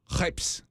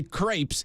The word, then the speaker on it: crepes: at this cart ordering uh kpes which is how they pronounce it cuz if you say if you say crepes they get upset yeah they yeah they